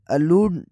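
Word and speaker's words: allude: से देखा जाए तो जो ए से स्टार्ट होता है उसके अलूड होता है प्रोनाउंसिएशन मिडिल वोवेल और स्ट्रेस में फर्क है अ लूड और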